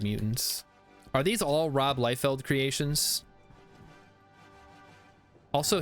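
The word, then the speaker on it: Liefeld: life Feld Creations also his name should be pronounced lefeld because of how German uh pronunciation works but I'll allow it because he's American or possibly Canadian but I think he's American all right o this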